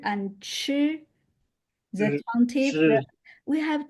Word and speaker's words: 吃: 知吃 Yeah, 吃 when pronouncing 吃, there much 吃 stronger airflow here coming out.